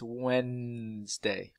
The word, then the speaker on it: Wednesday: a CH and Wednesday we don't pronounce this D it's Wednesday and also don't forget